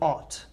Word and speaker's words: ought: So all of those past tense irregular verbs have the same sound as ought to.